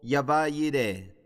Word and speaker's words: Jehová Jireh: Muy bien, la segunda hora vamos a discutir hoy día Jehová Jireh o Yahvah Jireh, si tú quieres tener la pronunciación hebrea.